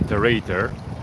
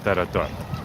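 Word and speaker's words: таратор: Sometimes, especially English-speaking people, when they read Tarator, they say Tarator. But the right pronunciation is Tarator.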